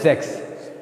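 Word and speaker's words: sechs: अब इसके बाद आता है जेक्स। अब जो भी ये एस है, इसकी हमेशा जो प्रोनाउंसिएशन होती है वो जेड की तरह होती है, और यानी जो अपना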